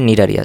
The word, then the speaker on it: Cnidaria: এখানে CNIDARIA বানান থাকলেও উচ্চারণ হবে নিডারিয়া, সি এর উচ্চারণ হবে না।